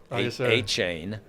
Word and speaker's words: Etienne: Well, Travis, we're going to be announcing your name correctly. A-chain. Travis A-chain.